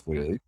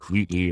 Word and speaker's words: Whealy: Our last name is pronounced Whealy, but spelled W-H-E-A-L-Y. Or T-L-Y a lot of the time, A-L-E-Y, whatever. Pronounced Whealy a lot, Wheatley or Whalen or whatever it may be. But it's actually pronounced Whealy, E-A-L-Y, but it used to be A-L-E-Y, which is where the pronunciation came from.